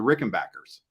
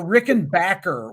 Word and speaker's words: Rickenbacker: family was it was Rickenbacker they that's what it was of course it's the German Way of pronouncing it but to distance themselves